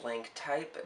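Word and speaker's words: Blanc Type: I think it's called Blank Type, but it's spelt like B-L-A-N-C. It looks like it says blank, but it's not spelt correctly.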